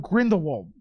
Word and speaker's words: Grindelwald: bit, and we talked about the Crimes of Grindelwald. Is that how you pronounce it?